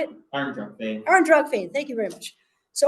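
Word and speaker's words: Ár nDraíocht Féin: Arndrug Fane, thank you very much.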